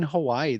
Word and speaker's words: Hawaii: it's ewa beach hawaii in hawaii the w's are actually pronounced with a v so for people that